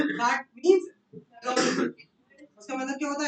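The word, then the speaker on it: rendezvous: The pronunciation is रॉन्डवू.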